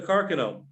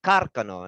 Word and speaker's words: Carcano: some point yeah the carcano as it's pronounced because it is an italian rifle uh it's actually very old it's uh the first smiles were developed around 1891.